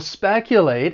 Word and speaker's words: speculate: Now, the verb has three syllables. The stress is on that first syllable. Speculate. And I really think this verb is well pronounced the way it's spelled.